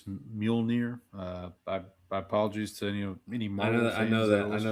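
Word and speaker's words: Mjölnir: Molir. Originated from old Norse. Often simplified to two syllables. Mule and near.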